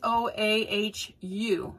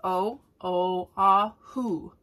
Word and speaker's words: Oahu: in a vowel and every time you say a Hawaiian word every one of the vowels are pronounced you got that so like if you look at Oahu which is where we lived it's o-a-h-u so Oahu that's o o ah who got that now when